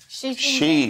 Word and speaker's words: Xi: the right pronunciation and it's actually Xi Jinping did you know that she yes very much for